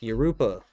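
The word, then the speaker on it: Jurupa: I'm like, Yoruba.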